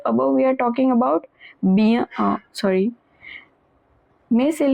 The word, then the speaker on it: bien: Bien manger. Remember this combination IEN is always pronounced as IAN. AN is pronounced as on. ER at the end of a verb is pronounced as A, always.